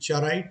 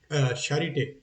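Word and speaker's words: Charité: ये शट है भाई। चराइट नहीं है या चराइट नहीं है या चैरिटे नहीं है। ये है शरिटे इसका स्पेशल प्रोनाउंस खोज के मैंने फिर जाके ये आपको बता रहा हूं।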